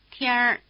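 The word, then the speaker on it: 天儿: 天天儿 Listen again and notice that the N drops out when the R is added.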